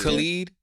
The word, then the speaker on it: Khalid: That's Khalid. Oh, Khalid.